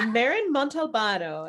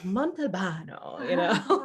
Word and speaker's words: Montalbano: Maren Montalbano. It just, think about like just saying it as if you were, in Italy and just like Montalbano, So we are so excited to have you with us today.